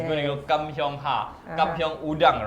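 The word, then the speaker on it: Kam Heong: This is Kam Kyung Prawns. Oh, I love that you pronounced it very correctly.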